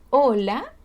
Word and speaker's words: hola: Ejemplo, hola y hola. Ambos se pronuncian igual porque la H es mudita, ¿cierto? No la vamos a pronunciar.